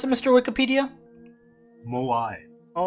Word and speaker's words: moai: how you pronounce it is that how you pronounce it mr wikipedia moai all right there you go thank you very